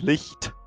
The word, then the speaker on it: Licht: And then the T, you can pronounce the T a bit. Licht.